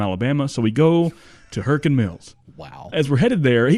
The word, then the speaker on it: Hurricane Mills: And the place is called Hurricane Mills. Well, that's not how they say it there. Right? How do they say it? Hurricane. Hurricane Mills.